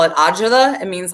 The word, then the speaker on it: agita: Like, I'm seriously, when I hear his voice, like, I get, in Italian, we call it agita.